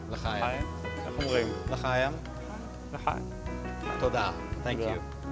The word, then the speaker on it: L'chaim: L'chaim? L'chaim. L'chaim.